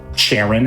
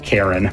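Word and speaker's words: Charon: We got some coins from the catacombs for Sharon as the game pronounces it. Uh, I think you actually call him Karen, but you know, I get why maybe that would be less daunting.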